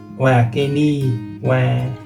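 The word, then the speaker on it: は: This grammar is created by simply attaching wake ni hai ke nai. The hai, so it's pronounced wa instead. The wa is a topic particle and it's pronounced wa.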